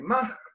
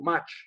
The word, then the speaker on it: Mach: conocido el número de Mach, o Mach, yo digo Mach porque en alemán la CH se pronuncia, pero también se lo conoce como Mach, y Mach es conocido, Mach, es conocido por al menos tres cosas.